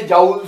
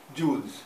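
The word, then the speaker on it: joule: कई लोग इसे जाउल्स भी बोलते हैं, अपना अपना प्रोनाउंसिएशन है, तो बेसिकली इट इज जूल्स।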